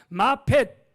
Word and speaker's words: 마펫: 이 평양신학교의 교장님이 누구냐면 마펫 사무엘이라고 하는 선교사였습니다. 마펫 사무엘. 그래서 한국말로 그냥 마포 사무엘 그랬는데요. 저 서울의 마포구가 아니고 마펫이라고 하는 발음이 잘 안 되니까 그냥 마포 사무엘 그랬습니다.